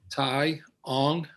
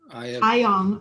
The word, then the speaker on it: Tyong: Tyong. Tyong. Okay. I think it's just how it's spelled. Tyong.